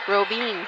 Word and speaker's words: Robine: Back to serve is Robine. Get it. Oh, you know, I just realized I was saying that it's Robin. Or is it Robine? It's 2 E's. It's E. Robine.